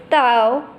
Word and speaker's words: dao: Has a pronunciation of Tao, Tao.